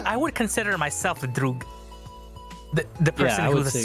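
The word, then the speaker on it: друг: apier thing is actually it's a Russian word and it's actually pronounced drug oh really yeah and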